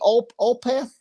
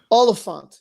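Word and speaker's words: Olyphant: Timothy Olpath. That's how you say his name? Oliphant.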